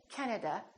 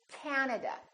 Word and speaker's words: Canada: This time, the first syllable is stressed. This time, this A is really long. So don't say Canada, say Canada, Canada.